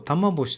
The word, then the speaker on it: 玉星: この、綾波さんと玉星さんという読み方ですが、そのまま読んで木並さん、グーナさんでも良かったんですが